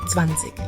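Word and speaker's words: zwanzig: Beyond in German the word for 20 is zanik let's say it together now here's where it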